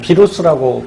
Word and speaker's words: 바이러스: 하는데 그 녀석이 누구냐면 바로 이 바이러스죠. 뭐 비루스라고 발음하기도 하고요.